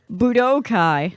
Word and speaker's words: Budokai: How do you pronounce the word? Budokai.